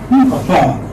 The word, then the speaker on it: upon: So the stress would come on the second syllable. Upon, yes.